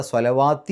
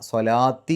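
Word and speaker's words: صَلَوٰةِ: രൂപത്തിൽ ഉച്ചരിക്കണം ദിക്രില്ലാഹിഇാമി സ്വലാത്തി അവിടെ സ്വലാത്തി എന്ന് എഴുതിയത് ആ ലാമിനെ നീട്ടാൻ വേണ്ടി ഒരു വാവ് കൊടുത്തിട്ടുണ്ട് അപ്പോ അവിടെ സ്വലവാത്തി എന്നല്ല സ്വലാത്തി എന്നാണ് വതാ അവിടെ താ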